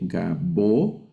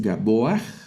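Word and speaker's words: גבוה: Esta palabra en hebreo se lee gabo, y bueno, la pronunciación es gaboach.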